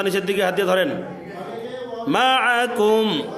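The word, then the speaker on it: معكم: মাআকুম, আইনটা গলার মধ্যে চাপ দিয়া।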